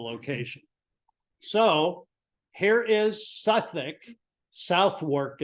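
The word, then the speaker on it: Southwark: so here is Suffolk South work is how it's spelled but if you're in English it's Suffolk by the way I was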